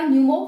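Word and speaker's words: pneumo: न्यूमो virus ठीक है न्यूमो इसी इसी को है ये साइलेंट है इसमें पी तो न्यूमो वायरस है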